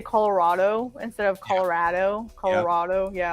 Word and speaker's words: Colorado: yeah I know right like it's here in Colorado it's Louisville Colorado and and so he has such a hard